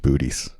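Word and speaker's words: Boötes: It's pronounced booties.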